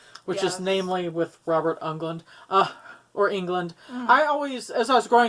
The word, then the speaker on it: Englund: things go awry, which is namely with Robert Englund. Or England. I always, as I was growing up, I always pronounced it Englund because it was spelled differently, but I think it's pronounced England.